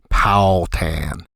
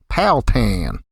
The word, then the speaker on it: Powhatan: The townsfolk tended to slur the three syllables into two, which I tried in my Yankified way, Powhatan. After being corrected several times, I finally threw caution to the wind and twanged up my pronunciation to sound like them, Powhatan.